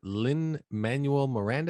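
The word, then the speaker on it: Lin-Manuel Miranda: first movie directed by is it Lynn Manuel Miranda is that you say his name or oh really okay yeah you're right that's how you say it it's a musical Andrew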